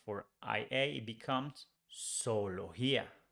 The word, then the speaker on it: zoología: If we change Y for IA, it becomes zoología. Zoología. The same rule here with G. We say zoología, not zoología, no.